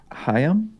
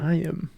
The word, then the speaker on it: Chaim: Gamble, it sounds like Hayam? Oh, Hayam. I really did butcher that pronunciation. Jeez, okay. Like L'chaim. Oh, it's got like a little bit of the throat sound in it.